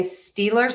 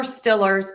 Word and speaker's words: Steelers: if I didn't, that many people in Pittsburgh will actually say the Pittsburgh Steelers with that short I sound. So either is okay. If you say Steelers or Stillers, it does not matter. Both are regionally okay.